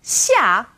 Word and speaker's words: Xiao: in Sheen or SIA now this sound is somewhere in the middle of SH and s and this one's a bit tricky because the initial SH is pronounced like she is in English X is somewhere in the middle so let's take Xiang and Xiao as an example here are the two